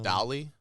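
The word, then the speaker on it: DALL-E: one software called uh Dolly like uh like spelled like Wally but it's amazing I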